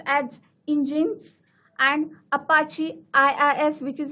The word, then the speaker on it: Nginx: It's pronounced as Nginx, and Apache IIS, which is of Windows web